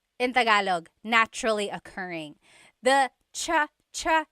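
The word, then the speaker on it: tsa: Polyglot said it's like the word cha. Cha in Tagalog is T like the tea that you drink. And it's spelled T S A.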